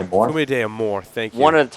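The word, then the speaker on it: Fumé d'Amour: Fume de Amor. Fume de Amor, thank you.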